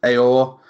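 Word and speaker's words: Aouar: I think his surname's pronounced Aor.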